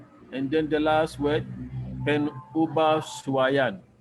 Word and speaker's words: pengubahsuaian: And then the last word, penubahsuaian. I repeat, pen. The G is silent.